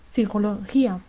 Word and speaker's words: psicología: español se pronuncia p en los grupos de letras como p s p n es muda psicología en unión con la